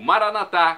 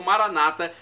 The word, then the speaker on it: Maranata: E agora do aramaico eu clamo Maranatá, como dizemos nós católicos, ou Maranata, como dizem nossos irmãos separados, os evangélicos ou protestantes. Não importa a pronúncia, Maranata ou Maranatá, o significado é o mesmo.